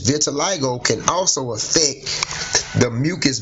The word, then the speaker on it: vitiligo: patches of skin appear on different parts okay vitiligo is a disorder in which white patches of